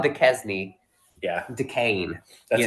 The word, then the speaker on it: Duquesne: It's Duquesne. Duquesne. It's spelled Duquesne.